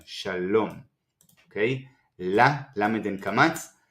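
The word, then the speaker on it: שלום: This is silent Vav. We can't hear and we don't need to pronounce the Vav, and the final Mem, Shalom.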